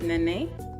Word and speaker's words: Nene: me actually and yeah so the correct pronunciation pronunciation of your name is nene i will remember that i will try to